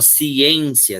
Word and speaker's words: ciência: No caso, a ciência, esse em é som fechado.